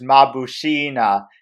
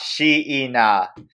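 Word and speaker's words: Mabushina: but he can't because her name is pronounced as ma boo Sheena not Shi ena now the other thing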